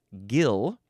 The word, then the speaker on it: gill: Okay, moving on to the second form of this word is pronounced gil.